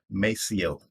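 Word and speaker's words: Maceo: as my day the next is m-a-c-e-o i pronounce that name as mesio the third is i j a w i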